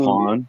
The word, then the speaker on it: Waupun: They pronounce it Wapoon, Waupun, but yep, that's where the prison's at.